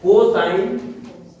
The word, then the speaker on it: cos: तो इंग्लिश में इनको कैसे लिखते हैं देखो। शुरुआत के 3 अक्षर SIN, साइन, ठीक, COS, कॉस, TAN, टेन, COT, कॉट, SEC, सेक, COSEC, कॉसेक, कॉसेक। ये इनका प्रोनाउंसिएशन है, उच्चारण है।